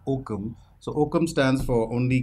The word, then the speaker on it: OKM: you oh so uh we are called okm and we pronounce it as okum so okum stands for